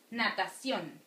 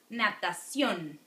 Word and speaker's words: natación: Natación. Natación. Alright, accent there because it's ending with N.